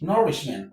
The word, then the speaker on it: nourishment: The stress is on Okay, let's start from the end. This is men't one, rish two, nour three. This word nourishment has three syllables and the stress falls on the third syllable from the end of the word.